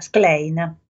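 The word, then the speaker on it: Schlein: familiarità Elena in italiano il suo cognome si pronuncia sclene da noi l'scl è duro se poi in più c'è messo una h ancora più duro la signora Vuole che si pronunci Slime se ne va negli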